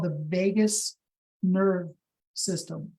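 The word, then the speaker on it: vagus: It's not spelled Vegas like Las Vegas. Um it's spelled v a gus like vot. All right. So it's the Vegas nerve.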